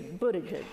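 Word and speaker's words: Buttigieg: to pronounce his name what I understand is is Buddha jizz so hopefully I got that right and and many others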